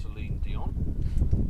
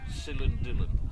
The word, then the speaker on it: Celine Dion: Her favourite singer is Celine Dion, and she pronounces it Celine Dillon.